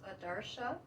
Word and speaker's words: Adarsa: a little unusual um my name is Adara rhymes with Marsha anaris which is the